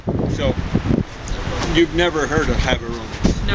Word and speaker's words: Gaborone: So, have you ever heard of Gaborone? No. That's the capital. It's spelled with a G at the beginning, but I've talked to someone who actually lived there.